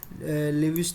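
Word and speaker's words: Lewis: It's resources, फिर नर्क्स thesis of disguised employment, लेविस theory of unlimited supply of labour, लेविस लुइस जो भी बोलना है आपको, यू कैन प्रोनाउंस इट, मैं लेविस भी बोलता रहता हूँ, पता नहीं क्यों।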